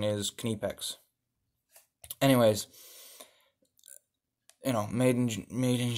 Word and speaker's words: Knipex: Well, Knipex, and that is how you properly pronounce it, if you want to pronounce it like the Germans, you say Kniepex.